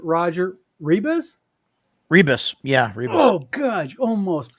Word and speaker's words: Rebisz: And with us I tonight is, I'm going to butcher the last name, Roger Rebisz. Rebisz.